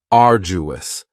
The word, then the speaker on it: arduous: next is arduous and arduous has three syllables and the stress is on the first syllable arduous now you don't hear that D sound that much it's not very strong it almost sounds a little like a j arduous arduous something